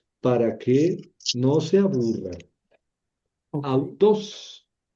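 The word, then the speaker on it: αὐτός: Autos, autos. Auteé, auto. Así lo voy a leer.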